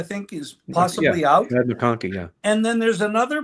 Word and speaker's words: McConkey: But I might get this name wrong. McConkey, I think, is possibly out. Yeah, McConkey, yeah.